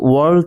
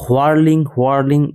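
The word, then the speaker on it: whirling: আর এখানে ওয়ার্লিং, এটা হচ্ছে ওয়ার্ল থেকে এসছে, যার মানে হচ্ছে ঘুরপাক খাওয়া। এখানে কিন্তু এইচ অর্থাৎ হ এর উচ্চারণ হয়নি, এটাকে কিন্তু হোয়ার্লিং এরকম উচ্চারণ করবে না, উচ্চারণ হবে ওয়ার্লিং বা ওয়ার্ল।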